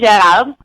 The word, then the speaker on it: Gerard: And, the correct name, of course, is Gerard. But here in America, no one can pronounce it properly because of the accent, so I'm good with Gerard. It's probably the American way to say it.